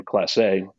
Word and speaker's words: Classé: to manufacture under the name class a so with an accent on the e um the name actually